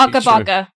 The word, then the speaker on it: Akabaka: Akabaka. Okay, because I thought that word meant something else. They actually say it like when the game loads up. It goes Akabaka.